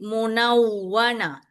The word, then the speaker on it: المنونة: When you pronounce the wow shadda, you must circle your lips and protrude your lips. Okay, munaw. Okay, munawwana.